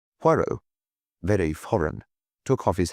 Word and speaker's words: Poirot: Monsieur Poirot. He corrected her with an emphasis on the last syllable. Hercule Poirot.